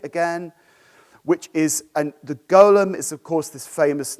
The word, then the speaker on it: Golem: David Aronson's painting the Golem or the golum I'm going to say golum which I think is maybe the British pronunciate sorry Golem golum I'm